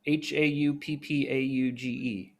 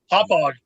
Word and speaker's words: Hauppauge: Hauppauge. How do you say that? Hauppauge.